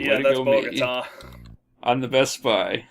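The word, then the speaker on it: Bogotá: I can search for Bogota. Bogota. Is that how you pronounce that? Yes, that's pronounced Bogota.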